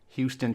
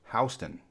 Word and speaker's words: Houston: we all know well Houston Texas sometimes Houston Texas but there are small towns with this name in New York and Georgia except there they're pronounced Houston there are two cities